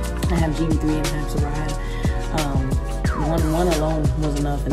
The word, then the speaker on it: Serayah: So it's Serayah Amor Brunson. Serayah, Serayah, Amor, Amor, Brunson.